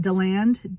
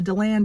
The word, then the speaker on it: DeLand: I don't know how to pronounce it. DeLand, D-E-L-A-N-D, Florida.